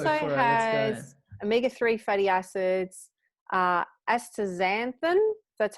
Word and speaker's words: astaxanthin: so it also has omega-3 fatty acids uh astaxanthin that's how you pronounce it vitamin a also known as beta-carotene